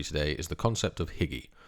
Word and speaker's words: hygge: The inspiration behind this recipe today is the concept of hygge, or hygge as it's pronounced in Danish.